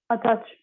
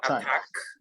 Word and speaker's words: attach: of all this word how do we pronounce it attach a catch not attack right but attach okay yeah so you